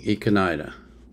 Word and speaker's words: Ikanaide: So first, we're going to listen to Koji Tamaki singing Ikanaide.